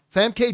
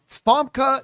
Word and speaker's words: Famke: noticeable by their absence was Jean Gray herself, Fam K. Jansen or as I've been told is properly pronounced Huskvorg Visvorg or it's actually it's Fa Jansen. Yes, Fka Jansen.